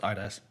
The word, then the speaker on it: ADAS: I've got an optimistic feeling about an interview I have scheduled for next Monday with an architecture firm in Leeds called ADAS. It's pronounced Idas.